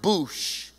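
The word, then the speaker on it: בוש: And that word shamelessly in the Hebrew It's pronounced boosh. Don't be bushy or bougie. Don't be a boosh.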